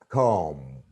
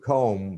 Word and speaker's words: comb: sponge, tomb, but it's comb, comb, T-O-M-B, tomb, B is not pronounced, C-O-M-B, comb, B isn't pronounced, village, college, language, usage, what, which, why, but, who, whom, they are different.